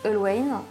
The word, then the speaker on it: Allwine: Donc j'en ai rajouté une couche avec le nom de la marque, qu'ils le prononcent Allwine.